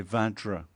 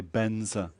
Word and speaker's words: Vajra: The Tibetans can't say Vajra, so they say Benza, Om Benza Hum, you know, when you're doing the mandala. Whereas the actual mantra is Vajra or Vajrasattva.